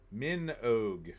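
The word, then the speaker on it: Minogue: of caner I believe minog rhymes with Rogue oh okay let's see the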